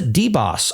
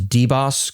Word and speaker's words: DBOS: It is DBOS and I am pronouncing that as deboss correctly.